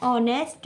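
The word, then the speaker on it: honest: word आपने सुना है ऑनेस्ट मैन ठीक है ऑनेस्ट की स्पेलिंग क्या होती है एच ओ एन ई एस टी यहां पर भी ये एच है वो साइलेंट होगा और ऑनेस्ट भी इस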